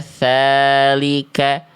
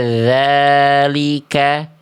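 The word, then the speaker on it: ذلك: cuma dia keluar angin ala tsalika harusnya ditutup jalur anginnya ala dzalika ala dzalika Oke.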